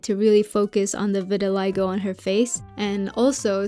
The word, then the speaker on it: vitiligo: According to Google, it's vitiligo, so I'll go with that.